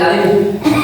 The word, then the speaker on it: আলিফ: আমরা কেউ কেউ বলে আলিফ, কেউ বলে আলিফ ঠোঁট বের করে দিই, কিন্তু সঠিক উচ্চারণটা কি এটা আমাদের জানা দরকার আছে। আলিফটা যখন আমরা উচ্চারণ করব, আমাদের নিচের যে ঠোঁট আছে এই নিচের ঠোঁটটা ভিতর দিকে যাবে।